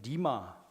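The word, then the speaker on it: רמה: 그 구약 성경에 벌레라고 보통 하는 단어는 이제 여기 보시면 이제 리마, 발음이 리마인데요.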